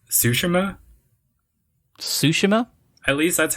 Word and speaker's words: Tsushima: And I think it's pronounced Tsushima.